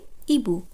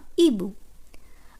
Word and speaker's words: hibou: un hibou, un hibou অর্থাৎ প্যাঁচা। আমি আপনাদের বলেইছি যে ফরাসি ভাষার ক্ষেত্রে আশ অ্যালফাবেটটি নিঃশব্দ থাকে, তাই তার পরবর্তী অক্ষর